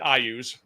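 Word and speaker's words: Iuz: Luke, I pronounce it Ayuz. That's how I've always pronounced it.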